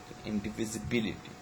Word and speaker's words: indivisibility: which is stressed okay so the primary stress is um basically the fifth syllable okay b ability indivisibility so this is actually the fifth one okay um this is